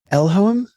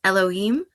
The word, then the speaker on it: Elohim: Elhoem Leifer? Am I getting in the right ballpark there? I believe it's Elohim. Elohim.